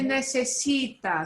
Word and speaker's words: necesita: The second from the last syllable gets the punch. It's not necesita, it's necesita.